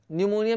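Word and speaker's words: pneumonia: अब देखते हैं नेक्स्ट, नेक्स्ट देखिए जिसमें पी साइलेंट रहता है, जैसे आपको बोलना है न्यूमोनिया, न्यूमोनिया में पी साइलेंट रहता है।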